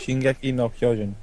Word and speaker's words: Shingeki no Kyojin: I'm gonna have a go trying to pronounce this. I think it's Shingeki no Kyojin. Is that it? Shingeki no Kyojin.